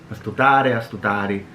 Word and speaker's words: astutare: So like astutare. Oh, astutare. Sì, astutari. Wait, is it astuta or astuda? Ta. Astutare.